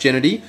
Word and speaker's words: Gennady: look up you know gennady i think it's pronounced genity i've i've never heard of